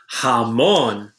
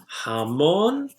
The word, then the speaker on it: jamón: comer pescado all right our next one is jamón jamón is ham now come on starts with a